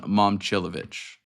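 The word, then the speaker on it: Momčilović: So it's Milan Momcilovic. So like mom and then Momcilovic. Chilovich.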